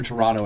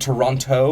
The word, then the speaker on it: Toronto: The Greater Toronto area. Greater Toronto area. Yeah. Is it Toronto or No. Toronto? Toronto. But there's a T there.